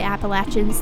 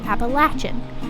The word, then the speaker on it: Appalachian: dialects in the southern regions of the Appalachians, the word is pronounced with the 3rd syllable sounding like latch, so Appalachian.